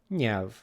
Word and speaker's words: nyelv: Next up, we have another double consonant made up of ny. We call this eny, eny, ny, ny sound, like in senior in English. And our example word for today is nyelv, nyelv, which can be